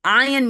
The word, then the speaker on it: Ian: Ion means charged particle, and it's spelled IAN. It's just the Scottish pronunciation and God's joke.